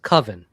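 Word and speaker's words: Cwfen: And damn, this thing hit me like a So it's spelled CWF for those who knows, but it's it's pronounced Coven and they are a Glasgow Scotland band and this is actually their debut album.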